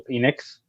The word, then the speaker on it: Penix: This man has been crushed by the disturbingly named Michael Penix, or Penix. I don't know how to pronounce it. It's Penix. Yes.